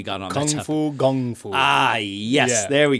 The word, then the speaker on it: kung fu: Okay, so in Cantonese, the term of Kung Fu should be pronounced Kung Fu, Kung, it's a G, Kung Fu. But the Brits, in their kind of nonsensical way of transliterating stuff, write that as a K, all right?